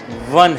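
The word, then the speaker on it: one: 1 है कि अगर हम उसको लिखेंगे तो ओ से शुरुआत होगी, लेकिन प्रोनाउंस करेंगे तो वी से होगा, वाह होगा और कुछ नहीं होगा।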